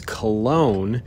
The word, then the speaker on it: Cologne: So the Battle of Cologne, now that's what a lot of people call it, is Cologne. That's the American way of pronouncing it, but the German way of pronouncing it is Cologne.